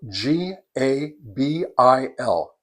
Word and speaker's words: Gabil: For today, I'm going to be testing an antenna from a company called Gabil Radio, and that's spelled G A B I L.